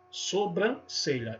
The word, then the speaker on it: sobrancelha: no caso já até a tendência de nasalizar algumas vogais como acontecem sobrancelha e aí sombra a pessoa acha que tem a ver com sombra não sombra sobrancelha e não sombras filha